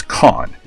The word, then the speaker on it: Kane: Because his name isn't actually pronounced Kane like you would think, because he's got a cane. It's Khan.